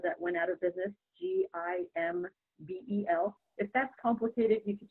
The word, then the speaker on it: Gimbel: And my last name is Gimbel, like the department store that went out of business, GIMBEL.